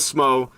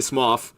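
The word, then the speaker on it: Smough: Smoff is actually the pronunciation, but everybody says SMO and I've always said SMO and it's everybody knows now that it's actually Smoff, but we all say SMO anyway. And I'll fight you if you say Smoff even though it's correct, man.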